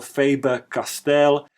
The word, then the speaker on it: Faber-Castell: Faber or Faber Castell, depending on whether you want to pronounce it in the German way or British way, is a brand from Germany that specializes in pencils and pens.